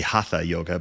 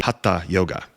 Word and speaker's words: hatha: so it's usually very acceptable just to say haa yoga but if you listen to a Sanskrit speaker or a a Hindi or uh someone from India or Bangladesh they would most likely Say Ha yoga so that's how to pronounce it now where